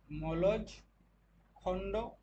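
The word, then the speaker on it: মলজখণ্ড: কোথায় কোথায়, একটা হচ্ছে রাজস্থানের খেতড়ি বা খুদরিবা, রাজস্থানের খুদরিবা, মধ্যপ্রদেশের মলজখন্ড, মলজ খণ্ড, খন্ড অ্যাকচুয়ালি উচ্চারণটা, আর ঝাড়খণ্ডের মধ্যে কোথায়, সেটা হচ্ছে ঘাটশিলা।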